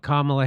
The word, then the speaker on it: Kamala: So they're not going to talk about Kamala Harris and the liberal class, the MSNBC.